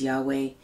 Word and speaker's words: Yahweh: God is often referred to as Jehovah, or it's pronounced sometimes Yahweh, Jireh, G-I-R-E-H, and that he's a provider.